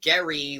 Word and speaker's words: Gerry: be noted uh that his last name is gary like a garage or garbage with a hard g but uh we call